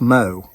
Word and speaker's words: Mu: And her last name is spelled M-U, but it's pronounced Mo.